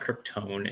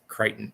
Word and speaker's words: Crichton: It's not Kryptone. It's Crichton. That's how you say his name.